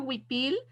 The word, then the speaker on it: huipil: speak up so we see your huipil, which huipil is Huipil, but you can Yes.